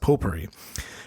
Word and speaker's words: potpourri: It has a T in the word, but I think it's pronounced potpourri.